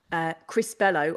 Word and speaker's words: Crispello: So it's crispy, milky, Crispello, obviously to rhyme with like mellow, Yellow didn't really come into it because there's nothing yellow about the chocolate bar.